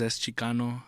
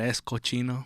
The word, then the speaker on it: ESCHICANO: how are you guys my name is es Chicano um that's cochino bro I was telling him how one time they mispronounced my name on stage said escochino but yeah guys I